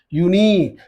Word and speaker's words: unique: you know very well, unique. No, unique is beginning with what? It is beginning with a vowel, but this vowel is not giving vowel sound, you know very well.